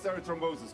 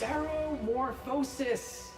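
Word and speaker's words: ceremorphosis: everything you know about serot thrombosis come on it's seromorphosis yes I'm not going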